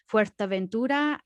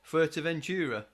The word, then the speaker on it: Fuerteventura: Yeah, it's I mean, I think the reason I pronounce them like that is because I've got a heck of a lot of stick over the years. If I didn't pronounce it that way to my Spanish friends, they would grill me for it.